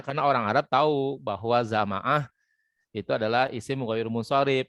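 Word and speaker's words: زمعة: Jadi za dibaca fathah, ma dibaca fathah, ain dibaca fathah. Jadi bacanya zama'a gitu ya, zama'a.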